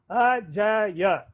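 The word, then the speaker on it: अजय: ra la va ya, Ajaya, 3 letter name, Ajaya, you will pronounce as Ajay.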